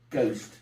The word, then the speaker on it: ghost: it comes from Holland he spelled it with a silent h ghost we got our ghost